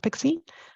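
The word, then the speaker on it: PKCE: add that pixie and it's pkc pronounced pixie to reduce the risk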